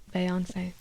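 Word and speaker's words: Beyoncé: When I started listening to Beyonce, Beyonce. that's how I say it. That's how you say it. It's French.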